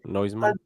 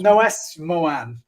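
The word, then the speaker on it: Noesmoen: say her name wrong noseman right noiseman well noes moan apparently i've got to say it right i'm so used to saying noiseman she's like she'll probably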